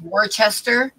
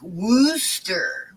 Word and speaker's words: Worcester: that City because to me it should be pronounced warchester but the people there don't don't say ours at all so it's like Wooster Wooster or something like that Wooster yeah sauce